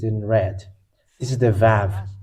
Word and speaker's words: ו: This is the Vav. It is called Vav. It is pronounced as V, and this is how we write it in Hebrew.